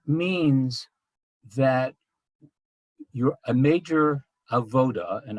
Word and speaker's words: avodah: that you're a major a voter and i'm going to use that pronunciation as opposed to avodah um in the spirit